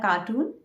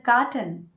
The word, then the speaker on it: carton: No, it is not a cartoon. It's a carton. Carton. Cartoon is something that children see on TV. This is a carton.